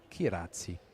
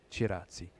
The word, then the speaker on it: Kiratzi: It's Kiratzi, not Chiratzi. So thank you, Lina, for the correction.